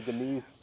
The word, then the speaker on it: Deniz: It's actually Denise. With Z. With a Z, yeah, with a Z.